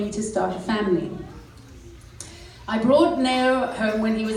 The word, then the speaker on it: Neo: The African pronunciation is Neo.